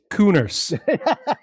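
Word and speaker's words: Kehner: Spell that again. Tate taint tate Tate Taint Cooners Tate Coun.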